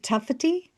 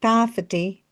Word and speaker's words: tawhiti: Don't forget, when we're using the kupu tawhiti, it has a short a sound. If we use a long a and say tāwhiti, we're actually talking about some sort of trap, like a mouse trap.